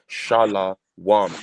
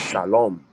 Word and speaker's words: shalom: Furthermore, they're not even saying peace because they're saying shala wam. That wam, that W in the wam is a vowel. It's the vowel. So it's shalom.